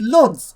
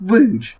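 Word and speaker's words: Łódź: Poland and despite how it looks it's not pronounced Lords it's pronounced Rouge that is extremely confusing and strange Lester off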